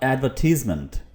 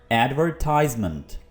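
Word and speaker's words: advertisement: आप यहाँ पर गौर करिए, अमेरिकन में ये क्या बोला जाएगा? एडवर्टाइजमेंट। यहाँ पर R को भी आप क्लियरली प्रोनाउंस करते हैं, ठीक है। अमेरिकन में R को बहुत ही ज़बरदस्त तरह से बोला जाता है, एडवर्टाइजमेंट, ठीक है।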